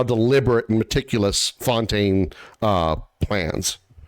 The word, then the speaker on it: Fontaine: That's just my thought because again, thinking about how methodical and how deliberate and meticulous Fontaine uh plans they mispronounced it in game. It's pronounced similar to the English word tune.